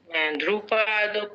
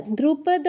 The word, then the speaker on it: দ্রুপদ: ঢান view ঠিক আছে ঢান view ডান হ্যাঁ ধ্রুপদ পুত্রের আচ্ছা দ্রুপদ নয় এক মিনিট মহোদয়া ধ্রুপদ নয় ধ নয়